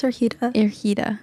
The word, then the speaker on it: Ergida: I can't pronounce her name. I'm so sorry. Can you say it one more time? Yeah, it's Ergida. Ergida.